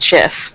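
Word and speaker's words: GIF: made the Jeff right and he says it's pronounced jiff yeah she is yes that's good which sport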